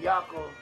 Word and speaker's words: Yaakov: Esau and Jacob in Hebrew, Esau is pronounced as Esau. And Yaakov is how Jacob is pronounced.